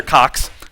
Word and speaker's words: Koch: Consider the tiefling the Koch brothers, or Koch brothers, however you say their names. Coke. Cook? No, they're Cox.